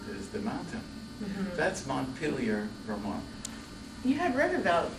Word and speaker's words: Montpelier: Well, Montpelier in France is Montpelier, and in Vermont it's Montpelier.